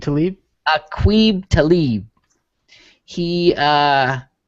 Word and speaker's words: Aqib: Taqib Talib. Aqib Talib.